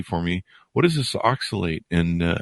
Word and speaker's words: oxalate: now oh wow wow so this did I pronounce it right oxalate oxalate very good so how oxalate overload is making you sick uh you know